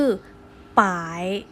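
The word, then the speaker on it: 百: นะ คะ อ่ะ อ่า คำ แรก คือ ป๋า ย เอา ป้าย ออก เสียง ว่า ป่าย นะ ครับ ต่าย ยัง แปล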